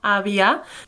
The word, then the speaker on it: àvia: Sí, la meva àvia. Just remember, we pronounce these V's a bit more like B sounds.